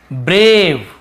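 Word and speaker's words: brave: यानी brush ब्रेव ब्रेव यहां पे देखेंगे आप हम यहां पे ए को ए पढ़ रहे हैं क्यों ए ई आई ओ के बाद एक लेटर छोड़ के ई है तो ए को ए पढ़ेंगे आई को आई तो देखिए इसे ब्रावेन पढ़ रहे से ब्रेव ए को ए पढ़ है ना ब्रे ए ब्रेव ब्रेव यानी होता साहसी तो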